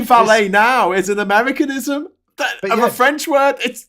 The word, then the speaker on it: valet: they're saying it right because it's a French word you shouldn't say the T on the end we're the one saying it wrong but we're not saying it wrong we're then to say valet now is an americanism